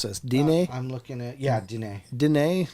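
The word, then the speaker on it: Diné: So just a real quick, when referring to Navajo people, should I call them Navajo or Dine? Depending on what language you speak, most people butcher Dine and say Dine.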